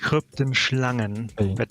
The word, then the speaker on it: Kryptenschlangen: By the way, pronounced Kryptenschlangen. Just a lot of decay. Kryptenschlangen? Got it. Kryptenschlangen. Kryptenschlangen. Got it. Why Got it. you gotta say it with the back of your throat?